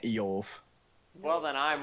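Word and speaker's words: איוב: It's technically we should be pronouncing it Eov.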